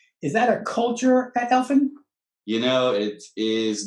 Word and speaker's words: Elifin: It's not because it's not Elfin, it's Elifin, like elephant without the T.